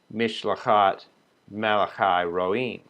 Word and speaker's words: Mishlachat Malachi Roim: of king shepherds, is Mishlachat Malachi Roim. So you can see it's extremely similar. The only difference in spelling is one silent letter, an aleph, in the first case.